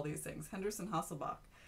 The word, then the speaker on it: Hasselbalch: spell these things henderson hasselbalch nobody pronounces the L you really don't hear it the equation is the